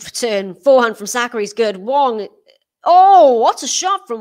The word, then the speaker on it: Wang: alex well it's it's it's spelt with the a but uh the way you pronounce it i believe is wong um in in chinese i may be wrong on that but i checked the pronunciation and i think it's i think the way you pronounce it is wong what a rally this